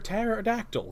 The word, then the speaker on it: pterodactyl: can't you hear a pterodactyl go to the bathroom does the P is silent well yeah but you